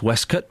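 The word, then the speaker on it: waistcoat: Well, we've already established that waste coat is pronounced Westcut.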